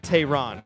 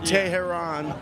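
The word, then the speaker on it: Tehran: So, it's like Tyrron, right? That's the Okay. So, are you to make it rhyme with Vietnam, I had to put Tahan.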